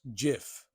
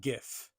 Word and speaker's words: GIF: is better than cold it is pronounced Jiff not gif talk to God about